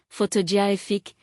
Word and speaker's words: photographic: For example, photograph, stress on the first syllable, photography, it's stress on the second, photographic, stress on the third.